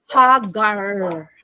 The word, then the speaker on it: Hagar: she became no ah in Hebrew the name Hagar is pronounced as haggar.